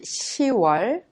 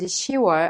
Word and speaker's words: 10월: Since October is pronounced 10월, when you say October 21st, you say 10월 21일. Please remember 6월 and 10월 are differently pronounced unlike the other names of the months.